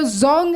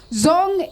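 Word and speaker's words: dzong: Fortress this also is called as the zong it's spelled as DZ o n zong in Banes uh is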